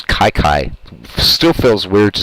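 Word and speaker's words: Kiki Cuyler: out two away here I know a lot of people say the pronounced Kiki I did for years but uh after doing some research his last name is Kyler and uh yeah it's Kai Kai still feels weird to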